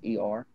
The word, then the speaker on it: doffer: Those and how do you spell that? DOFFER.